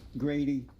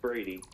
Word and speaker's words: Brady: about uh black conservative grady it's brady brady yeah brady oh they have a g here for some reason it's brady not okay yeah they spelt